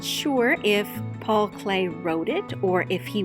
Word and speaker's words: Klee: it should be pronounced cli because it's spelled k-l-e-e but his name is actually pronounced clay like the material we love to use in the art room this work of art